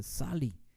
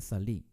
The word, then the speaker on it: salí: La palabra salí no se dice salí, se dice salí.